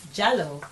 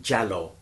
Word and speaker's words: Jalloh: much oh thank you very much okay youu jallo tell me more about yourself now as you